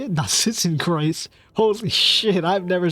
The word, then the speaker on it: Narzissenkreuz: Narzissenkreuz.